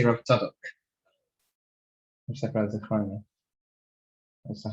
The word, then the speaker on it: Tzadok: That's where it's pronounced. It's Rav Tzadok.